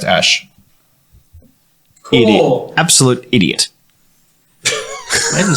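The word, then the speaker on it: Æ: go, So, it is pronounced Ash.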